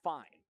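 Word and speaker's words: Fein: years ago called Fiend, but it's pronounced fine.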